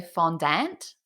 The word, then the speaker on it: fondant: I mean, that's how Australians pronounce it, but I know some people in America say fondant, fondant, and Oh, I'm like, that sounds a bit weird.